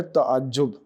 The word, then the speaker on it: تعجب: اگلے لفظ کی طرف، اور وہ ہے تعجب۔ تعجب میں تے پر زبر ہے، عین پر زبر ہے،